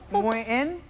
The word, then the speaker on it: Nguyễn: The K in the end is not pronounced as K, but as Phuc. something like that. It's Nguyen.